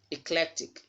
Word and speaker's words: eclectic: Okay, so the second syllable from the end here is having letter E, and it is stressed, so the letter E there will sound as E.